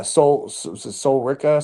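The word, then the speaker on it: Sol Ruca: So yeah, Soul Rika. So how you say it? Ruka, yeah.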